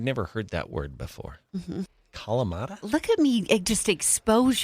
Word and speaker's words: Kalamata: Kalamata? Look at me just expose you to so much. Kalamata has 4 syllables.